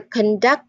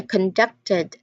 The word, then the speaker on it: conduct: Now, conduct as a noun, where we identify it as a behavior, it stresses the first syllable. I've repeated it many times. It stresses the first syllable. But conducted as a verb, it led. It's more of leading. So it stresses the second syllable.